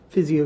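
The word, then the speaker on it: Physio-Control: I move that the Board of County Commissioners authorize the Director of Department of Emergency Services to purchase 30, is it pronounced Physio? Physio Control, yes, sir.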